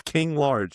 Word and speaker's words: King Large: Yes, his name is King Large. He and plays it's as spelled like LARGE. ARGE. Like I'll get a large Diet Yeah, Coke from like- McDonald's.